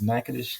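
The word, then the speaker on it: Natchitoches: I am from Louisiana so I did pronounce that correctly. That is Nackadish Louisiana.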